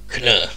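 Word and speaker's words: Kh'nr: Captain Marvel was a scroll sleep agent named can can I'm going to spell that okay k h n apostrophe NR can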